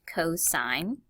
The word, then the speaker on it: cosine: formula to go with cosine and the abbreviation is C o s notice there's an angle behind it again but it's pronounced cosine and there'll be a